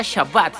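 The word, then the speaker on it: שבת: hecho en la creación el sábado en el hebreo original sábado es la transliteración el hebreo se pronuncia shabbat significa reposo no aparece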